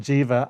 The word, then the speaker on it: Djiva: His name's Jiva, and I actually named him Jiva after a band. Wow. That I was in. That's spelled DJIVA.